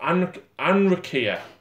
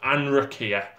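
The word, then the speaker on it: Anrakyr: So we've also got Anrakia, is how we pronounce it. Anrakia.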